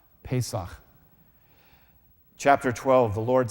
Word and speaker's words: Pesach: itself we'll look at that in Hebrew it's pronounced Pesach Pesach chapter 12 the Lord said to Moses and